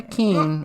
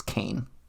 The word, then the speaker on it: Kean: best ke or Kane don't say Kean I take a little I'm get a little touchy with that it's Kane Kane but it's spelled k e a n yes like mean with a K but you don't call it main no you don't i